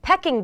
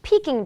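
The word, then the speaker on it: Peking: that what it is I've just been told it's peaking duck but it's spelled p e k so I thought it was pecking National peaking duck day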